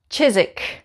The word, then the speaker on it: Chiswick: six this is called chizik chizik chizik we don't pronounce the w we just say chizik now the next four